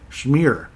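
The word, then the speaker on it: Shmyr: cream cheese or something shmir he was shmir that's great it wasn't spelled the same as you know shmir like cream cheese and all that but Paul shmir I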